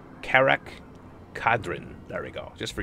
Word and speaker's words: Karak Kadrin: Jimmy Crackhorn, Crackerin, Karak Kadrin. There we go. Just for you guys, I took time to pronounce it.